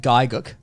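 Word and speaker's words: Gigguk: Giguk. Wait, did you pronounce it Gig UK like everyone else? I said Gaiguk.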